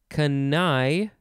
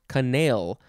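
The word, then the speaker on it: canaille: cat it's a feline next we have kanai kanai or it could be pronounced canal c-a-n-a-i-l-l-e we'll say kanai uh this is a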